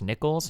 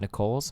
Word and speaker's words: Nichols: It's pronounced Nichols, not Nicoles. Mr.